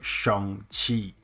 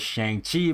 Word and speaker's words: Shang-Chi: referred to him as Shang-Chi because that's how it's read in English. However, because of the movie, everybody's just changing the way how they pronounce his name to Shang instead of Shang, right?